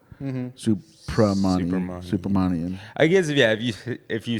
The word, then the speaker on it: Subramaniam: do this the pa instead of the ba. Supermanian.